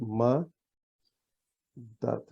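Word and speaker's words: مدد: So now we have ma, dad. So there are two Ds and M at the beginning. And that's pronounced Madad.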